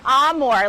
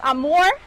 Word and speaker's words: Amur: now Lisa is an Amore leopard now that is spelled am M Ur but it's pronounced am more kind of similar to Italian now she is quickly